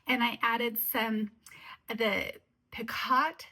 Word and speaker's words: picot: I added some the picott spelled p it's spelled picott but you pronounce it pico elastic kind of like